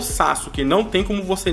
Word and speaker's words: Sasuke: que vocês devem perceber que eu falo Sasuke ainda, né? Na verdade, eu sei que a pronúncia é Sasuke, só que eu, por mania de tanto tempo que eu falava, sabe? Desde quando eu era pequeno, quando eu conheci Naruto, eu falava Sasuke, acabou ficando, meio que virou um vício, tá?